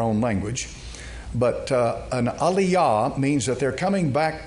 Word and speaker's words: Aliyah: is what's called an Aliyah they make an alyah or Aliah I think some of them pronounce it that way and they're probably more correct than I am I'm an Englishman trying